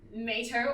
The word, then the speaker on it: Mato: And I'm pretty sure it is not Mato, or as it is correctly pronounced, Mato, from tomato. I just feel like they weren't a Yogs type, so I'm going to go B, Musil.